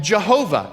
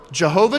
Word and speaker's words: Jehovah: pronunciation you call him Jehovah it's the same word Jehovah translates those same four Hebrew letters but it's latinized you can see that